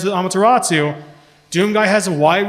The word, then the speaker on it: Amaterasu: get on to that isn't it amateur isn't Amaterasu yes I've been pronouncing it wrong Point Okay so I